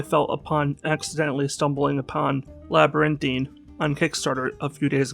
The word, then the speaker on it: Labyrinthine: 9 letters or so, I instead want to say Labyrinth. But that is not how it's actually pronounced, much to what I'm sure will be many other people's eventual confusion, not merely my own.